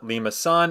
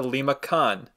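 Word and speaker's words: limaçon: French a Sadi but that tail basically means you want to pronounce it as the soft sea which is why it's a Lima son and not a liac con again that doesn't matter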